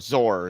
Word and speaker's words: XOR: So it's XOR, Zor is how it's said, or XOR, exclusively or, which means that it's exclusively either the first or it's exclusively either the second.